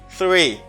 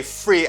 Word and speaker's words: three: to practice if it's difficult for you to pronounce so it's three three I have three people with me three okay I show you three fingers three of